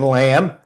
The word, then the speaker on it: lamb: We don't pronounce the B in lamb.